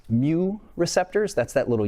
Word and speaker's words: mu: Let's talk specifically about what's pronounced mu receptors.